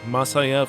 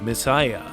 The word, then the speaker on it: Masaya: The name “Masaya” comes from the given name of NCS founder Masaya Fujita. But the brand name isn’t pronounced “Masaya”, it’s “メサイヤ”. Guess they wanted to be the Messiah of gaming.